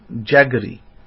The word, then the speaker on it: jaggery: called guru g-u-r and in english they pronounce it jaggery with a j j-a-g-g-e-r-y but we we